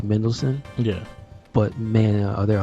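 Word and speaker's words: Mendelsohn: Oh, you know, his name is spelled in such a way that you don't realize it's very simple. It's Mendelssohn.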